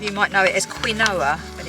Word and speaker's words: quinoa: And I'm just doing a mixture of brown rice and quinoa. A lot of you might know it as quinoa, but it's pronounced quinoa.